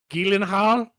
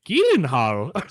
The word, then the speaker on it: Gyllenhaal: Jake Jake Gillenhal as he says it's pronounced.